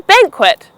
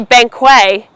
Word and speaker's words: banquet: It's a banquet. Not a banquet, a banquet. You are having a banquet.